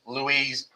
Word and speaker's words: Louis: one of their many louise louis kings looks like lewis but they pronounced it louis notice it's up here